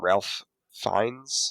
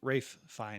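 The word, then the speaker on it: Ralph Fiennes: Um, Ralph Fines. Is that how you say it? Rafe. Rafe Fines.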